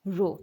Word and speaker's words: Rho: Rho into one divided by a how to pronounce it as Rho what is Rho it is a constant of